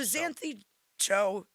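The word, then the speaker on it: Xanthe Zhou: So Xanthe Joe, which is it's pronounced like Joe, as in Joe. Hey Joe.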